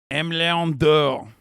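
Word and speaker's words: Aimé Leon Dore: M. Leon Dore is the French pronunciation.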